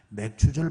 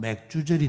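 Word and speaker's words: 맥추절: 첫 열매를 거둔 이라 매출 절 발음을 잘못하면 맥주 저리 됩니다 예 맥주 저리 아니 맥추 머리와 뇌를 거둔다 하는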